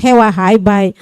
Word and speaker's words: hewahai: It should be pronounced hewahai, but sometimes the younger speaker prefer to say hewai than hewahai.